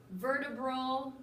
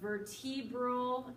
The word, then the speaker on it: vertebral: of your axial portion vertebral or vertebral can be pronounced either way is what houses your